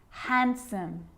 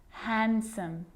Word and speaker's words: handsome: the letter D yep it can be silent too Wednesday handsome sandwich so I'm not pronouncing the D in Sandwich I'm just pronouncing the consonant n sound before it try it with me